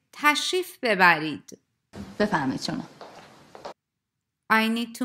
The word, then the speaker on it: تشریف ببرید: Please notice that in fast-spoken Persian, re is not pronounced in تشریف ببرید. And native speakers would say تشریف ببرید.